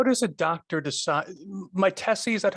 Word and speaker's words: Mytesi: Mytesi, is that how you pronounce it? Is the brand name? Okay. Mytesi brand name, yeah.